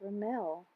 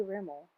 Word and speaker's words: Rimmel: I already forgot yeah I think I said it right Ramel I say Rimmel but I believe that's wrong and Morgan always corrects